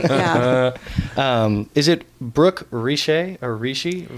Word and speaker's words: Richey: looked it up and it was like it's pronounced Richey.